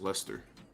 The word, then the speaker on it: Leicester: Oh, and I did confirm with a few of my Brits, it is in fact pronounced Leicester.